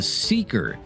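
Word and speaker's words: Seekr: It's called the Seeker app. That's spelled S E E K R. Seeker.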